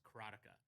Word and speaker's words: Karateka: I pronounce it, and I've always pronounced it, and you're going to hear me say this all the time, is Karateka.